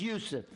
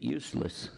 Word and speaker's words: Yusuf: My name's Yusuf. Can you say Yusuf? You got it right on the first time. All these years, my wife still pronounces it useless.